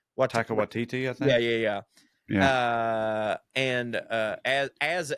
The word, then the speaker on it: Taika Waititi: Michael, not Martin, damn it, Michael Sheen and Taika Waititi. Is that how you say his name? Taika Waititi, I think.